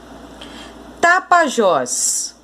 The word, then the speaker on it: Tapajós: E em Tapajós? Última sílaba é a mais forte.